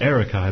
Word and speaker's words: Arykai: there you go my youtube channel name is Eric I by the way well ary k AI oh that's how to pronounce it that's how okay cool yeah and